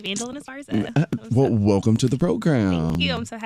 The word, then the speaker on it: Vandolyn Esparza: Vandolyn Esparza.